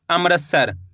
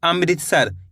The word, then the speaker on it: अमृतसर: बन जाएगा अमृतस सर कई लोग क्या पढ़ते हैं अमृतसर जबकि होता है अमृतसर इस तरीके से पढ़ाना है अमृतसर मृकर उच्चारण निकालना है अमृतसर प्री थे वि